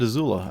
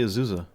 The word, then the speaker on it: Azula: I said it right. I said Azula. I didn't say Isuza.